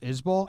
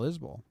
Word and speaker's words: Isbell: a few times kyle isbell and if he pronounces it like the singer jason it's bull not belle at the end but i don't know